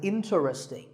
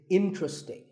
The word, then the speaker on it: interesting: number 11 is interesting this is mispronounced sometimes as interesting but there are only three syllables in tree sting and the stress is on in so the word is interesting number 12 is hotel